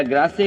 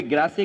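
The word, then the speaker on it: Grasse: France में perfume capital अगर है कोई तो कोई ग्रासे कहता है, कोई ग्रास कहता है, वो एक प्रोनाउंसिएशन है कि इंग्लिश या फ्रेंच जो भी कुछ है।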